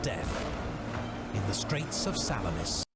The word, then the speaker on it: Salamis: Disaster and death in the Straits of Salamis. Salamis. Okay, that's how you pronounce it, not salami.